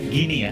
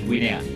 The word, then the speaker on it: Guinea: Indonesia melawan, bacanya Gini ya, bukan Guinea.